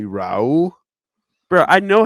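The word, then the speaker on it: Raúl: Like I didn't just hear you fucking call somebody Ropo. Can't forget the junior. It's say after me, Raul. Bro, I know how to say his name. Bro. Nigga said Rapu.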